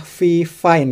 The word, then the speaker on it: Fifine: Ini adalah Vine ya, bukan VFIN bacanya.